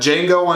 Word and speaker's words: Django: for it you got Django Unchained the D is silent you